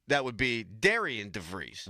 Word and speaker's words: Darian: If it's spelled Darian, you can't say it's pronounced Darren.